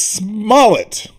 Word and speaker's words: Smollett: to say his name its Smollett like mallet but smart with AA and s Smollett because and